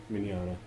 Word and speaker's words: Mignola: Mignola.